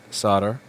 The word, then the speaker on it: solder: So hopefully the leaded solder, if you're from one of those wacky places that pronounces the L in it, is going to help